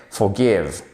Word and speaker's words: forgive: de manière phonétique c'est à dire comme on prononce on a écrit en anglais forgive for give for cave ici c'est un pardonner